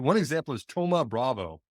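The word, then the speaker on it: Thoma Bravo: right one example is Toma Bravo spelled like T looks like it's Thomas minus but Toma Bravo is is kind of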